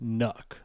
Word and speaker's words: NUC: Intel says it's pronounced Nook, like luck Nook, or like truck.